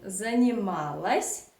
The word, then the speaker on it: занималась: Absolutely the same, we pronounce neuter form, but we write o. Занималась, занималась. So here, as I already said in my previous videos many times, Russian reduction law works here. So o unstressed you pronounce as a.